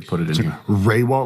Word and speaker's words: Rehwoldt: Raywalt, like RAY-WALL-T.